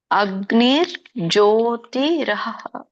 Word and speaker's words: ಅಗ್ನಿರ್ಜ್ಯೋತಿರಹ: ಪ್ರಯಾತಗಚ್ಚಂತಿ ಬ್ರಹ್ಮ ಬ್ರಹ್ಮ ವಿದೋಜನಹ ಇದರ ಒಂದು ಉಚ್ಚಾರಣೆ ಅಗ್ನಿರ್ ಜ್ಯೋತಿರಹರಹ ಅಗ್ನಿರ್ಜ್ಯೋತಿರಹ ಇದನ್ನ ಬಿಡಿಸಿದಾಗ ಮೂರು ಪದಗಳಾಗುತ್ತೆ ಅಗ್ನಿಹಿ ಜ್ಯೋತಿ ಅಹ ಅಂತ ಕರೀತಾರೆ ಅಹ ಅಂದ್ರೆ ಹಗಲು ಅಗ್ನಿರ್ ಜ್ಯೋತಿರಹ ಅಂತ ಹೇಳ್ತಾರೆ ಇದಕ್ಕೆ ನೀವು ಸಪರೇಟ್ ಹೇಳಬಹುದು ಅಗ್ನಿ ಜ್ಯೋತಿರ್ ಅಹ ಅಂತನು ಹೇಳಬಹುದು ಶುಕ್ಲಹ ಅಂದ್ರೆ ಶುಕ್ಲ ಪಕ್ಷ